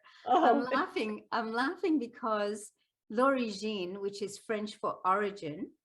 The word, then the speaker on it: L'Origine: which is an award-winning novel was which is origin and please forgive my hillbilly accent i know